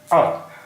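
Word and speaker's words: अ: letter of Hindi alphabet ah its name is a and it is pronounced as u in cut heart but Etc cut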